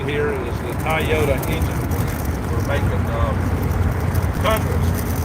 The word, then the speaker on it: Toyota: Toyota. That's the right way to say it. Toyota.